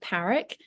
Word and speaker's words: Parrack: Well, I pronounce it Parrack, but lots of people pronounce it Parrack, which I think is quite fancy. So either way, it's fine.